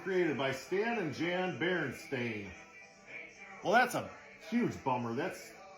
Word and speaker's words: Berenstain: So apparently there's just a whole generation of boomers that just don't know how to spell or pronounce. Because that clearly says stain.